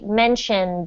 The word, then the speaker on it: mentioned: It's one of those words with the final d sound instead of, it's not mentioned, but it's pronounced mention and then the final d sound. So it's actually mentioned.